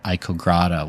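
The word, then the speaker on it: ICOGRADA: just graphic design and they were ICO grata was the way you pronounce the acronym yes something like but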